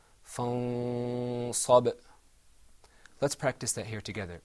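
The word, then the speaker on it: فَانصَبْ: So let the example that you see is pronounced without ikhfa, fansab. With ikhfa, it's pronounced fansab.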